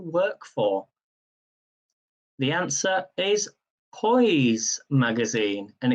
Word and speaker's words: Poise: for the answer is poise magazine and it's spelt as in noise but with a p p o i p-o-i-s-e toys magazine and number 15 which